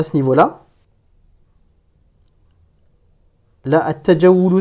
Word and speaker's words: التجول: Là, at-tajawulu, c'est un mot dont la première lettre, le ta, est une lettre solaire. Donc, en cas de liaison, je ne prononce pas le alif lam.